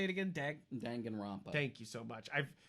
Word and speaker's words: Danganronpa: Danganronpa.